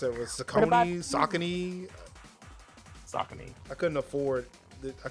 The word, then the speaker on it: Saucony: largest throwback episodes in there that's how you pronounce it is a combining Saucony saucony I couldn't afford I couldn't afford the